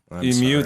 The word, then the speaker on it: emu: you pronouncing it wrong emu emu that's how you say it emu yeah like Mew from Pokemon honey all right so